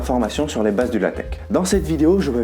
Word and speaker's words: LaTeX: Je tiens tout de même à rappeler que le mot LaTeX s'écrit bien LaTeX avec un X à la fin, mais il se prononce bien LaTeX.